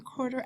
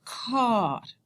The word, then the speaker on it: quart: How to indicate the half hour and the quarter hours. So, the word for quarter is quart.